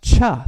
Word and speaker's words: Chih: is called tai chi cha is that third word it's i don't know if you can see it c-h-i-h is the way it's spelled and it's pronounced cha like chuck wagon it's not a nutritional